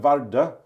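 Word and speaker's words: Vardø: is we call it varda because it's a city here in Norway it's v-a-r-d and then the o with a slash which is pronounced ER but it's actually an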